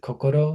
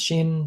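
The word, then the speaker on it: 心: We might pronounce it kokoro, sometimes shin, sometimes a couple other ways, but it is both heart and mind.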